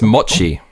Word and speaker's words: mochi: Moochie donut. Moochie moochie. Moochie donuts are colorful, whimsical, Instagrammable Japanese American sweet treat trending in US. So this is actually pronounced mochi.